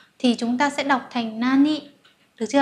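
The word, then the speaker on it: 何: cái gì á, thì chúng ta sẽ đọc là nan, đúng không ạ? Nan tội, không phải là nani tội, nan tội, được chưa ạ?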